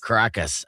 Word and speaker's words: Caracas: Caracas.